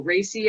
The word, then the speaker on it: Raci: chicago seven and then paul racy i believe is how his last name is pronounced he might be rachie